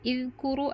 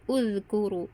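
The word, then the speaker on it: اذكروا: Jadi membacanya uzkuru bukan idzkuru atau azkuru tapi uzkuru.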